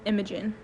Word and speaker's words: Imajen: No, my name's pronounced Imagigen.